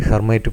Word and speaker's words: Hermite: in terms of the hermite polynomial and the hermite this time is pronounced as hermit of degree n that